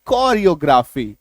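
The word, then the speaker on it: choreography: जब किसी शब्द में CH के बाद ओ आर आ जाए means CH + OR = to also क इक्व टू आल्सो क तो जैसे CH ओ R coarse C H plus O आर सी एच ओ आर L coral CH + ओ आर ई ओ जी आर ए पी एच वाई कोरियोग्राफी सी एच कोरियोग्राफी सी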